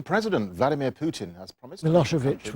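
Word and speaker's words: Milošević: Vladimir Putin as promised milosovich was one that gave people a lot of problems and came out of a lossovich about half the time the trial of the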